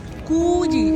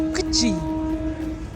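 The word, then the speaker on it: Coogee: इट्स नॉट कूजी, इट्स कच्ची। तो अगर आपने हमारा दूसरा ओ हो जा रही है The glass boat.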